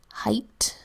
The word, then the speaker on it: height: e IG HT says height usually aigh says a but in this word it makes a long I sound and that's unexpected and that makes it a sight word height next word ant